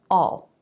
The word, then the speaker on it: I'll: I I will becomes Isle and we often pronounce this like all all so it sounds just like a-l-l I'll see you later